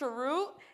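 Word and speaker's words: chroot: started off with um I think it's pronounced charu in the 1970s um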